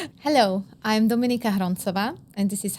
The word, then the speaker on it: Hroncova: Welcome to me, but welcome Dominica Hondrova. Not really. Okay, but I will take it. I will take introduce yourself. Hello, I am Dominica Harona and this is how you pronounce my surname correctly.